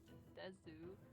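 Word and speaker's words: です: Yuri desu. Des. You can just say des without the U at Oh the yeah, end.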